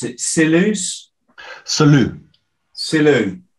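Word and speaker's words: Selous: Salut. Salut. Yeah, French name, originally. Salut, yeah. Salut. Ah, I see, silent S.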